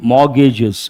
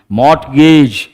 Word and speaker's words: mortgage: Mortgage. What do we say? But T is silent. What are you supposed to say? Mortgage.